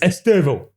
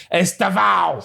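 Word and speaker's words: Estêvão: the Brazilians call him the Brazilian pronunc pronunciation is esto. Okay. So Chelsea now the the English people and everybody else around the world calls him Estav.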